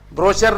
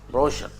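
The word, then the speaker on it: brochure: ब्रोचर नहीं, हम ब्रोचर बोलते थे। एक आदमी बोला अरे ब्रोचर नहीं होता, ब्रोशर है ना।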